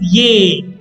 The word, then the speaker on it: es: Pronunciation of es is ye.